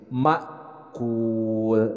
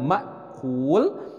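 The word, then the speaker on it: مأكول: dengan mim ma'kul nah ini yang banyak kesalahan di dalam mak'ul ini sering Hamzah ini ketika disukunkan dibaca seperti air makul padahal ini adalah huruf hamzah Jadi harus jelas makul penekanannya harus tepat baik kita sama-sama baca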